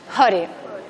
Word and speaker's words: hare: es re, sino re, por tanto esto es hare.